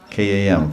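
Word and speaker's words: काम: we say bhajate, or bhajan, bhaj, and kam, K-A-M, kam, and ram. Sounds like it somewhat. Bhag, kam, ram. So pri, as in priyatam, or priyasi, or priyasi, bhaj, kam, and ram.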